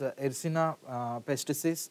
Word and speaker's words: Yersinia pestis: So the name of the bacteria is pronounced as Yersinia pestis.